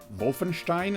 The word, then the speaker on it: Wolfenstein: Wolfenstein 3D. Or Wolfenstein, if you want to go with a German pronunciation. I go with the American pronunciation.